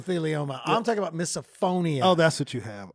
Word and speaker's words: misophonia: doing well is that did I say it correctly miss a phone eeeh like you miss a phone it's like you missed yeah you missed something or misophonia yeah and could you